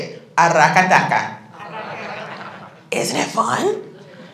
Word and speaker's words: Aracataca: Aracataca. Isn't it fun? It's like it just, and if you can roll your R's, it's even funner.